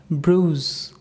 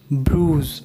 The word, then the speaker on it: bruise: Number 42, B-R-U-I-S-E, bruise. Bruise, not bruise, it's bruise.